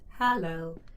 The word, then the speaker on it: Hallow: details your name is hallow pronounced hello h24 pronouns pay them